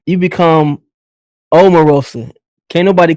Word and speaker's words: Omarosa: you officially become a household name you become Omarosa can't nobody call you Omarosa amorosa they gonna call you oh ma from this